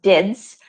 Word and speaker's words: DID: to a customer's pbx dids or pronounced dids direct inward dell numbers